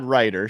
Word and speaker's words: Reuter: get the last name pronunciation correctly is it ryer that's right Chad Ryder I think I've been calling you Chad rer it's Chad Ryder so if I get it wrong again just